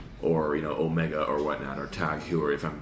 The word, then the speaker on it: Tag Heuer: that's when I went, oh, that's how you say it. So it's Tag Heuer.